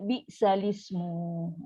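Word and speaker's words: بئس الاسم: So kita akan baca bi'salismu. Itu cara baca. Tapi tetap juga bila kita tak faham kaedah pindah-pindah lah, iltiqat sakinain, kita baca salah lah. Kita akan baca ni. Bi'sal ismu. So kita putus kan.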